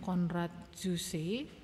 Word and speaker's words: Konrad Zuse: ya di sini namanya konrad zuse bacanya gimana nih ini orang Jerman Biasanya kalau nama Jerman Ini bacanya seperti bahasa Indonesia ya dia disebut sebagai penemu